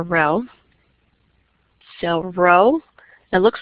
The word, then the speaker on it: rho: But in your population, you use the Greek letter rho. So let me write it down so you know what I'm trying to say. So it's the Greek letter rho.